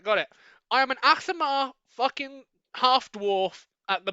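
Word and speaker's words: Aasimar: Asimar. That's it. That's the fucking pronunciation. Thank you very much, Alf. Just remember, the first bit of its name is what you are. Ass.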